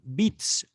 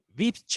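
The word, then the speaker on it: Witz: la gracia del alemán bits o tweets bits creo que se pronuncia con la la w en alemán se pronuncia como la uve de latín a la gracia o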